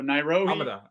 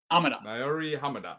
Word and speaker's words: Naouirou Ahamada: It's a tough one, but it's Naouirou, and you got to say his last name pretty fast, Ahamada. So Naouirou Ahamada. Naouirou Ahamada.